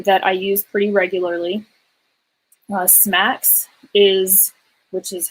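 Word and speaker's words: SMACSS: didn't cover um that i use pretty regularly smacks is which is how this first one up here is pronounced generally just tells you how to structure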